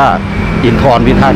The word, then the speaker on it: อินทรพิทักษ์: นี้ นะ ครับ อิน อินทรพิทักษ์ 7 นะ ครับ ร้าน นี้ ก็ อยู่ ริม ถนน อินทรพิทักษ์ นะ ครับ หรือ ว่า อินทร พิทักษ์ นะ ครับ ผม อาจ จะ ออก